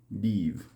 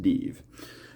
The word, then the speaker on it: Dives: to go after uh deeve over here this this city right here looks like Dives pronounced de so that's where we're